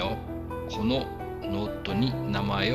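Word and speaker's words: を: O. Então aqui nós temos uma partícula que representa o objeto direto. Então, embora esteja escrito WO, a sua pronúncia é somente O.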